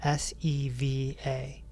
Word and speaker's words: seva: It's called SEVA. They call it SEVA, S-E-V-A. The E's are pronounced like A.